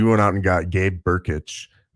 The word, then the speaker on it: Brkic: So we went out and got Gabe Burkic. It's Brkic, but it's pronounced Burkic.